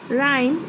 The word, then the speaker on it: rhyme: Rhyme, I will circle H.